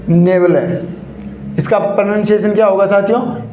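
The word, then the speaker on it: nebulae: दिखाई देता है तो उसे क्या बोलते हैं नेबल इसका प्रोनंसिएशन क्या होगा साथियों नेबल ने यल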